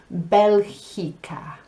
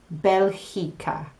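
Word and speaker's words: Bélgica: Belgium, Belgica. Belgica. That GI makes a he sound. Belgica.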